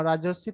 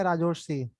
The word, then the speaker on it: राजर्षि: Sion, sir अच्छा राजर्षि, तेरा नाम राजर्षि बोला जाएगा या राजोर्षि, राजोर्षि। सर जो भी बोल सकते हैं सर। नहीं नहीं, प्रोनाउंस करना सर एक बार खुद का नाम, प्रोनाउंस कर। सर सर, तो ओके, हिंदी में सर हो गया। सर, हिंदी बंगाली नहीं, में मेरे को बंगाली में, राजोर्षि।